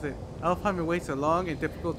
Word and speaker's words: Alfheim: Alpheim awaits a long and difficult journey. The training ground of Niflheim holds secret rewards. Superheim may hold unfinished business. Choose carefully. Is it Alfheim? Yeah, that's Alfheim.